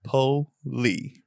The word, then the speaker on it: Polee: up both names like my last name it sounds exactly like it's spelled po Lee p o well some